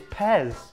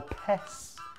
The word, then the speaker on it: PES: Going against the grain of the mmms, it's Pez or Pes. There's no mmm there. P-E-S. Mmm. No, not mmm. Yeah, I just added it. Not Pez-mm.